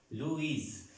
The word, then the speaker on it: Louis: en la última sílaba y los nombres que son de origen francés de origen origen francés como luis luis y pronunciaremos louis la ola suena un luis luis está la gran diferencia si son de origen francés la s no se pronuncia y así es de